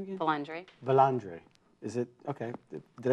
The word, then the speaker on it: Vilandre: how do you say your last name again valandre bandre is it okay did I say that